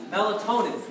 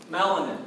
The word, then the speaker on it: melatonin: we offered any open melatonin is what I want to make sure you pronounce correctly melatonin because it's not melanin or melanic what was melon